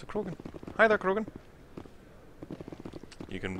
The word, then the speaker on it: Krogan: You gotta also roll your R's when you say that. You gotta go Krogan.